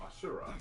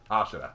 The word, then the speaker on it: Ashura: become evil, they become Asura. I might have mispronounced that. Ashura. Ashura, okay.